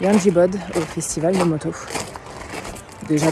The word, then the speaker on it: Yangiobod: Direction le festival de moto à Yanjibod. Je sais pas si je le prononce bien, encore une fois, mais en tout cas c'est dans les montagnes et c'est très joli. Presque. On dit Yangiabad en fait.